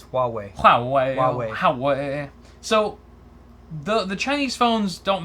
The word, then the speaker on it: Huawei: This is installed on Android devices from Huawei, and ZTE, sold in China.